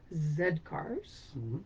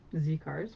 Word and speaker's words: Z Cars: be in the band zed cars z cars we would say but it is zed cars pronounced britishly yeah yeah yeah so